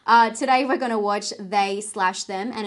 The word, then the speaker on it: They/Them: today we're gonna watch they slash them and it is pronounced they slash them if you didn't know they've actually typed it out that way on the wikipedia and i'm glad because